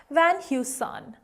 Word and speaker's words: Van Heusen: then you must also know that it is pronounced as Van Heusen, Van Heusen, Van Heusen.